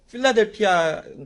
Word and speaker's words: 빌라델비아: 오늘 본문에는 한국말로 빌라델비아라고 나와 있어서 발음하기가 좀 어색하기는 합니다. 필라델피아인 것 같은데 아마 번역을 하면서 빌라델비아라고 아마 기록을 한 것 같은데 발음하면서도 굉장히 웃었어요. 여러분, 아무튼 이 빌라델비아라고 하는